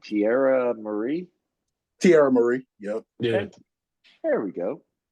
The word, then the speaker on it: Tierra Marie: How do you pronounce that girl's name? Tierra Marie? Tierra Marie.